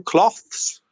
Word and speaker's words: cloths: those das troubles that would be two cloths but it's not the same pronunciation as ropa clothes so you work clothes and in your kitchen you use cloths can you hear the difference and George at the